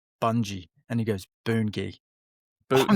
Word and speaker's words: Bungie: Do you know how that's pronounced? It's Boon-Gi.